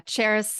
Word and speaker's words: Charis: cherish your life yeah Charis is and do you say it and spell it for for the listeners out there I Know It's Tricky it's pronounced and spelled just like the city Paris but with a cherish